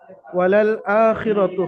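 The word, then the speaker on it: وَلَلْآخِرَةُ: এর কায়দা হলো এই, ওয়ালাল হামজার উপর খারা যাবার আলিফ মাদ্দার সমতুল্য, সুতরাং হামজাকে এক আলিফ পরিমাণ আলিফ মাদ্দার মতো টান দিয়ে পড়তে হবে।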